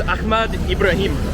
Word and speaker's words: Ahmad Ibrahim: This is Ahmad Ibrahim. Yes. Was that good pronunciation? So. So. All right, I'll take it. Actually, in Arab phonetics we have ha. It's very difficult for me to say.